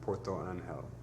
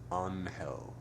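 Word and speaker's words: Puerto Ángel: a $1 bus to Porto anel anel with soft G a spherical Bay with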